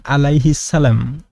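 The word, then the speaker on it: عليه السلام: Kemudian bahkan alaihi salam ya, yang biasa kita ucapkan ya, sholawat yang kita ucapkan terhadap para nabi ketika Nabi Isa alaihi salam, Nabi Musa alaihi salam, diucapkan aliyul salam.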